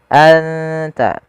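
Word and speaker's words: أنت: Cara membacanya adalah suara nunnya disamarkan ke huruf ta, anta.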